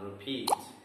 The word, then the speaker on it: repeat: So a verb which is having two syllables, usually the stress will be on the second syllable. That is why the words are read forget, explain, and repeat.